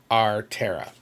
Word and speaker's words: Aretherra: This is how back there this is how it's supposed to be phonetically, you know, said our terra, if you will.